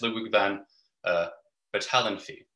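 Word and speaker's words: Ludwig von Bertalanffy: cluster are familiar with, by the Hungarian biologist Ludwig van Bertalanffy. That's correct pronunciation.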